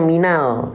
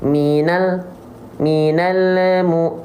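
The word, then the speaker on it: مِنَ الْ: Dilafalkan dengan suara tambahan berupa pantulan. Contoh dibacanya gini. Minal mu. Ada yang melafalkannya kayak gitu, minal mu. Nah, itu adalah kurang sempurna. Kenapa, Bang? Karena lam gak punya sifat qalqalah. Jadi jangan minalemu.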